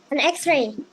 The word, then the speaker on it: X-ray: E atau an X-ray. Yes. An X-ray. Karena X-nya, huruf X-nya bunyinya E dulu.